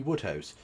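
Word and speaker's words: Wodehouse: By the way, it's pretty it's spelled W O D E House. But regardless, um yeah, you asked me about PG Woodhouse, who lived in France during the war, didn't he?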